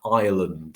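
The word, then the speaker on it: island: said for words like ireland for example so right so ireland has never been pronounced in english is land like that it's just that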